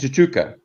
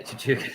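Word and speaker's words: Tshituka: How do you pronounce the open side, Brendan? Tazaki? Vincent Chichuka. Yeah, Chichuka.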